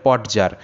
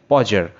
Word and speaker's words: Podger: এটাকে অনেকে স্টুডেন্ট দেখি যে অনেক স্টুডেন্ট এটাকে উচ্চারণ করে পট যার কিন্তু পজার যারটা সঠিক উচ্চারণ নয় এটা একদম সম্পূর্ণ ভুল উচ্চারণ সঠিক উচ্চারণটি হবে পজার আঙ্কেল পজার এটি হচ্ছে সঠিক উচ্চারণ আঙ্কেল পজার